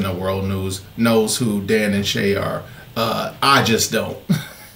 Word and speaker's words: Dan + Shay: this request so uh this is Dan plus is that how you say it Dan Plus or Dan and Shay all right so it's Dan and Shay and Justin Bieber obviously